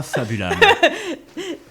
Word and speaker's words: Fabulâme: Donc, Attends, Fabulam, F-A-B-U-L-A-M-E. AME, bien sûr. Comme une lame fabuleuse. Ouais, comme une âme fabuleuse.